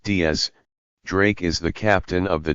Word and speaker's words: X Drake: from the north blue x pronounced diaz drake is the captain of